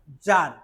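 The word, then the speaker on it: tsar: বলি ঠিক রাশিয়াতে king of Russia is called জার এই উচ্চারণটা টিস আর এটা কিন্তু আমরা যার উচ্চার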